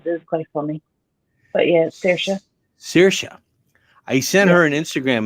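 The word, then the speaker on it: Saoirse: the song names is quite funny but yeah sirsha i sent her an instagram message asking her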